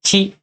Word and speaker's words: chi: Yaitu chi dan tsu. Chi dan tsu. Ya, dua huruf ini kalian harus ingat, ya. Dan harus kalian hafal, ya. Jangan kalian menyebutkan ti sama tu ya, karena dalam bahasa